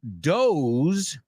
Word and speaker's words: doze: and I'm going to doze. I'm going to take a dose and doze. Dose, doze. No, they are not homophones. So doze rhymes with close, cerrar, right?